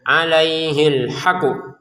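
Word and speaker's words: عَلَيْهِ الْحَقُّ: Misalnya, "alaihil haqqu". " Alaihil haqqu". Nah, di sini ada tashdid, jadi harus ditekan, ya. Tekan dulu, lalu pantulkan.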